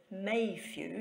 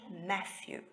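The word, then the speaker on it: Mathew: who is Sarah Matthew pronounced according to her husband may view not Matthew because they only had one tea and this is the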